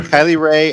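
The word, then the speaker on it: Kylie Rae: to each other on purpose and they're like pronounce it now yeah kylie ray and then number eighteen k lee ray exactly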